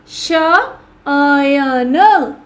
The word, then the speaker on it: शयन: अब एक उदाहरण अगर देखा जाए तो मैंने लिखा श पे मैंने ऐ की मात्रा लगाई और अन और अब इनका प्रोनाउंसिएशन क्या हो गया बच्चों? ऐ हो गया। तो कैसे बनेगा ये? शयन शयन अ और व अ और सॉरी य के जो प्रोनाउंस है वो कैसे आ रहा है? श य न।